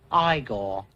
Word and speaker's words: Igor: marty feldman as a character eagle now it's pronounced igor i'd been swapping his ump from left to